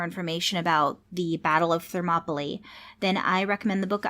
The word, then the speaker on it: Thermopylae: find out more information about the Battle of Thermopylae then I recommend the book I used primarily